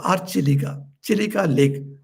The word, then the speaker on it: Chilika: know that is called chilka or chiliga chilika lake it is called by the name and it pronounced in in conversations many people say chilka lake it doesn't matter this chilika lake is